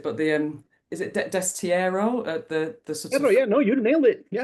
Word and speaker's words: destierro: don't want to say the word because I'll mispronounce it, but the um is it destierro?